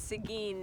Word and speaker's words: Seguin: find out how to pronounce it correctly we're pronouncing its eggwin and it's Seguin named after once again so we apologize residents